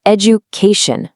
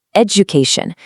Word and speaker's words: education: It's not education. There's actually a J sound hiding right in the middle. education.